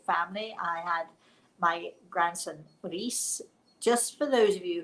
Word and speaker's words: Rhys: I had my grandson Reese. Just for those of you who thought he was beautiful, can I just tell you that his name is spelled Rhys? It is the Welsh spelling.